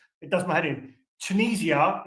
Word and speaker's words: Tunisia: Tunisia is actually pronounced Tunisia, not Tunisia, not Tunisia.